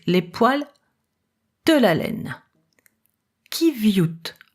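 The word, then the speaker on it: qiviut: Kiviut, prononcé riviut, de manière à la préparer pour le filage.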